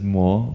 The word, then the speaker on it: 无: So this is mo. Mo is the how you say it in Cantonese. The word for Wu is mo in Cantonese.